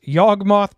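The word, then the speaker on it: Yawgmoth: on and go back to you wheeler gixx yogmoth preter and that's how it's pronounced one black black for a 3-3 legendary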